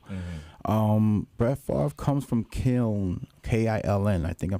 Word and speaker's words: Kiln: Brett Favre comes from Kiln, K-I-L-N.